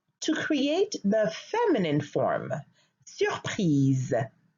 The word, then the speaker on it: surpris: Surpris. Surprise. Surpris is the masculine form, and you notice that I do not pronounce the S at the end of surpris.